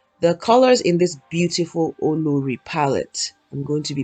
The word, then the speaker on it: Olori: Olori, that's how it's pronounced, not Olori. Olori. Olori.